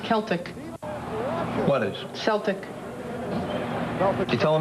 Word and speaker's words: Celtic: Celtics. You know, it's actually pronounced Celtic.